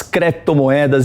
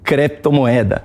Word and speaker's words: criptomoeda: A pronúncia correta, naturalmente, não é criptomoeda, é criptomoeda. Cripto é um termo grego que significa oculto, secreto.